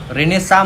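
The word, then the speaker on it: Renaissance: रेनेसा म्हणतात त्याला pronouns करताना, पण स्पेलिंग बघा कशी, RENAISS रेनेसा, पुनरुज्जीवन, रिवायवल.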